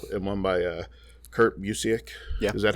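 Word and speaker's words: Busiek: by mark russell and one by uh kurt museek yeah is that how you say it yes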